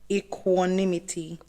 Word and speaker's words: equanimity: My word of the day is equanimity. Say what now? So it is spelled EQ.